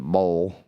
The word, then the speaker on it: boil: island to enjoy a low country shrimp boil or as they pronounce it a bowl I've never heard of